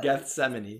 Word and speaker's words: Gethsemane: Island Park Garden of Gethsemane very good that's a hard word to say everybody tried at home guess cemani it does rhyme with enemy alright question number three